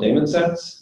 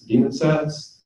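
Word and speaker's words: DaemonSets: open stack um there's something called Damon sets demon sets depending on how you want to pronounce it um that allow you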